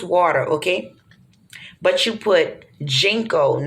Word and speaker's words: ginkgo: okay but you put jengkol now it could be said different it's it's spelled g-i-n-k and it's a leaf